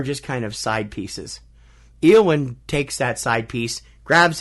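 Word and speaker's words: Éowyn: Or Eowyn, actually, is how it's pronounced. Not yeah. Eowyn. Sorry.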